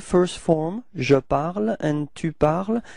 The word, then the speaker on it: tu parles: parle and tu parles, even if there is a small difference in the writing because you've got this final S for tu, it is the same pronunciation. So it's je parle and tu parles.